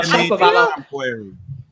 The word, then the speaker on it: Shapovalov: No, Shapovalov.